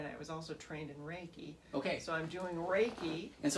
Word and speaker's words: Reiki: So okay, Reiki energy healing.